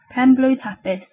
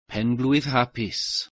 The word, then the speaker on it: Penblwydd Hapus: Like the meme pronunciation guide. Yeah. Penblwydd Hapus. Penblwydd Hapus.